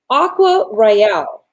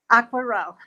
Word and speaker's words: Aquarelle: And it's called Aqua Royale. Did I pronounce it correctly? Aquarelle.